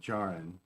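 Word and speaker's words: Djarin: of didn't join them it's with a silent d jaren dingell so so we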